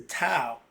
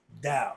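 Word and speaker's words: Tao: So you pronouncing the tow t ao. No, it's pronounced dao.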